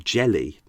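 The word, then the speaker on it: Gelli: It looks like it's Licchio or something like that, but I had to check it and it was like, oh, it's Liccio jelly. Not Gelly, and it's, yeah.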